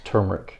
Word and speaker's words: turmeric: Yeah, it's not turmeric. Pronounce it. Yeah. It's turmeric.